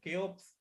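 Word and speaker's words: Cheops: just the dating of the khufu the kapos actually chaos the way the greeks pronounce this name so his date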